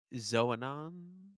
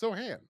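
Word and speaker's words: Xoanon: face and dealing with uh how do I pronounce it the the the main Computer Guy Z Zan Zohan right Zohan or Zohan zanan is it Zan no it's not zanan no is it Zan no it's Zohan or Zohan Zan zanan no it's not zanan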